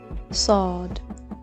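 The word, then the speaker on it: ص: Sad. The best way to remember this letter is to think of it as a heavy letter with a heavy S pronunciation.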